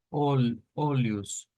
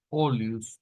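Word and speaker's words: olhos: por la pronunciación verdad de esa l que no no es no es igual no es igual que lo que vendría siendo el el el español pero a veces nos suena parecido nos suena parecido eh vamos a ver segir V entonces acá vamos a poner esta es la misma que está y como les dije más o menos la pronunciación venía siendo como olus olus para los ojos en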